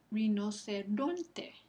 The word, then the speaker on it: rinoceronte: Ron, ¿no? Rinoceronte. Esa penúltima sílaba recibe el acento prosódico.